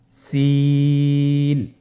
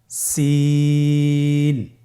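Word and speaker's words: سين: সিন হরফটি বারিক হরফ, পাতলা করে উচ্চারণ করতে হবে। তাহলে আমার সাথে বলুন, সিন। আবার বলুন, সিন।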